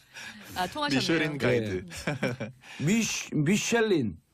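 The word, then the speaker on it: Michelin: 미슐린. 네. 미슐랭의 미슐린이에요. 이게 이제 영어로는 미슐린. 네, 영어로는 불어 발음으로 미슐린이고 미슐랭. 불어로 하면은 미슐란에 갈까요? 미슐란.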